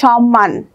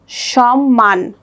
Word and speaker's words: সম্মান: যুক্ত থাকবে, যেমন পদ্ম, সম্মান, স্মরণ। এখানে পদ্ম দয়ের নিচে ম যুক্ত হয়েছে, উচ্চারণটা হবে পদ্ম। এখানে সম্মান, ময়ের সাথে ম ফলা, সম্মান দুইবার উচ্চারণ হয়েছে।